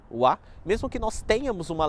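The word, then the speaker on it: は: nosso livro, mas basicamente essa partícula é escrita com a letra Ha, mesmo que ela seja pronunciada com o som de wa, mesmo que nós tenhamos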